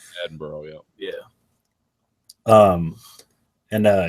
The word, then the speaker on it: Edinburgh: documentary he went to Edinburg I don't sure how to say it looks like Edinburg but they say like Edinburgh or something Edinburgh yeah yeah um and